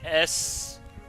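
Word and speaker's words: Seroe: So it's spelled S-E-R-O-E. Yeah, Sero.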